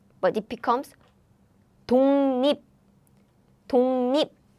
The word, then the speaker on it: 독립: Now this air blocking sounds meet 짠 nasal sound. So to pronounce it easily, it becomes nasal sounds like 독립, 독립.